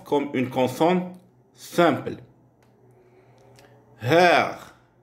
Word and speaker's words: Herr: Le E de Herr est très ouverte, proche du E du français. Comme par exemple, mère, ou du E direct, par exemple, direct.